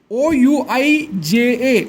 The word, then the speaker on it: Ouija: Okay, but currently the group of ghosts was on strike because people were using OUIJA, O is silent, pronounced Ouija boards to summon ghosts and ask questions.